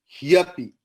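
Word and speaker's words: ह्यपि: He api, that is why the pronunciation is hyapi.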